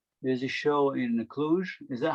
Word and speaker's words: Cluj: kobe they again there's a show in the cluj is that how you pronounce it yeah exclusive cluj so it's gonna be my first time inclusion